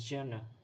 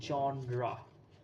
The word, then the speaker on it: genre: of a genra is it it's people often pronounce it as Jenna Jenna g n e r or j n e r that's not the correct pronunciation it is johra that's how you pronounce it then the next